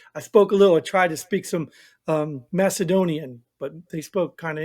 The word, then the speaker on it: Macedonian: I tried to speak some Macedonian, but they spoke kind of English, didn't they? I don't even remember. actually, it's a hard C. It's Macedonian. Yeah, whatever it is.